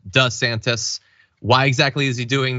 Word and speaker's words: DeSantis: see it in video he used to call himself D santis now he calls himself does santis why exactly is he